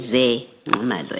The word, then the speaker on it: Ze Nxumalo: So the correct pronunciation is Ze Nxumalo, as is written here.